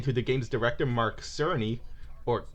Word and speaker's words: Cerny: of knack according to the game's director mark cerny or kearney depends on how you pronounce his last name is like and i